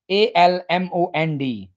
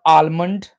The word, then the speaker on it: almond: let's get started the first dry fruit is a l m o n d not almond it's almond almond almond low sound is not pronounced here almonds are good for heart health